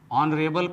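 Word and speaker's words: honourable: अब आते हैं दूसरे शब्द ऑनरेबल पर और सबसे पहले एबल के लिए ABLE लिखेंगे और यहाँ H साइलेंट है तो सबसे पहले H लिख देंगे और O के लिए O लिखेंगे।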